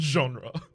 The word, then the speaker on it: genre: rule of the gondry genre of felix it's pronounced genre genre right thanks i read that word in